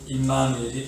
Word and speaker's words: 임마누엘: 원래 임아누엘인데 발음상 임마누엘이 되는 거지요.